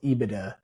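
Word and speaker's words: EBITDA: No, no, we don't spell it out. It's IBIDA or IBIDA.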